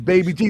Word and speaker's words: Baba G: Her name is Baby G, or BBG, and perhaps spelled Baba G, which is pronounced as Baby G.